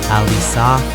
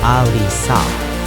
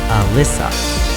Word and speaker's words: Alysa: This is how my family says my name, she said calmly. Alysa Liu. Pause on that. Ah-LEE-sah, not Alyssa.